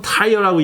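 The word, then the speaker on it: Tyre: 두로와 시돈. 영어는 타이어라고 읽죠. 두로와 시돈.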